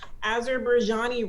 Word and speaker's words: Azerbaijan: And so our first country was, I'm going to say it wrong, Azerbaijani. No, that's the name of the language, Azerbaijan.